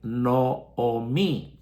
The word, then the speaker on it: Noemí: El nombre de Noemí, que en hebreo se pronuncia Noomí con dos o en vez de o e son dos o.